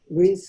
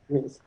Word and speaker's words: Rees: Is that how you pronounce it? Rees? Yes. Mm-hmm. Rees.